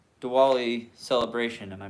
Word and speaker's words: Diwali: So what's your traditional like Diwali celebration? Am I pronouncing that right? Yeah, it's Diwali.